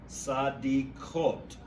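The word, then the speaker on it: צדיקות: For the word righteous, you said the pronunciation for the plural, feminine plural, ha sadikot. You know what? And that's my bad pronunciation, because that kof is just a hard K.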